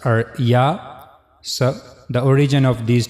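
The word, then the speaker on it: ي: Middle of the tongue will touch to the roof of the mouth. So that's how you can easily pronounce yah.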